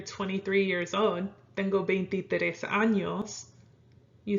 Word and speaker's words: años: So if you want to say that you're 23 years old, tengo 23 años, you say it like that. You don't say tengo 23 años, because that means you have 23 anuses.